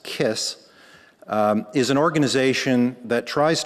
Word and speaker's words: KISS: The Keck Institute for Space Studies, or as the acronym is pronounced, KISS, is an organization that tries to bring the public close up to topics of space exploration.